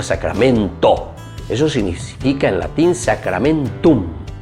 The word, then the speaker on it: sacramentum: No se olviden que la palabrita sacramentum, que es una palabra latina. A ver, Vanessa, ¿cómo se dice entonces en latín? Sacramentum. Muy bien, con la M al final.